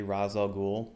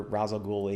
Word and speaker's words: Ra's al Ghul: liked to seen a Middle Eastern actor play Ra's al Ghul?